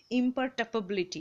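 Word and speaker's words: imperturbability: অ্যান্ড দ্য ইম্পার্টেবিলিটি, এই উচ্চারণটা বেশ কঠিন, ঠিক আছে, ইম্পার্টেবিলিটি এরকম উচ্চারণ হয়, অফ দ্য অ্যাকিউরেট ক্যালকুলেশন, ঠিক আছে।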